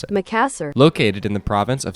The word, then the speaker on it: Makassar: That's how it told me to pronounce it. Makassar.